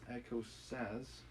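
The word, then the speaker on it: écossaise: older visitors that comes is pronounced echo sas and it's an energetic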